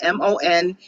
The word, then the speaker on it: Mondragon: way that it's spelled, and it's Mondragon, I'm sorry, like my dragon, Mondragon, Mondragon.